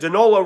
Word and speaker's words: Danola: And I said Danola rhymes with granola, and because I like